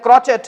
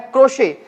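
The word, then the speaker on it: crochet: इसे बहुत से लोग गलती से बोल देते हैं क्रोचेट। लेकिन इसका सही प्रोनाउंसिएशन होता है क्रोशे जिसे कि हम क्रोशिया भी कहा जाता है आमतौर पर।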